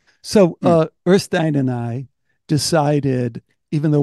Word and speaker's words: Øystein: Øystein. We have a vowel you don't have, so you're not practiced in saying it. Ö is the vowel. Oi.